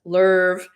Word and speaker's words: love: You know, like they're sitting in this restaurant on Venus back when Venus was called the love planet with love, pronounced lerv, back before the molten quakes and the uprisings.